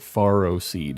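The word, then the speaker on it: Ferroseed: I will not pronounce it Faro Seed. It's F-E-R-R-O. Don't spell it that way if you don't want it pronounced that way.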